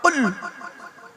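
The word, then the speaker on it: قل: বলছে কুল কি বললাম ভালো করে উচ্চারণ করো কুল কুল নয় কয় হস উলা কুল কয় বা হস উলা কুল দুটো কুলের মধ্যে পার্থক্য আছে থেকে কুল মানে বলো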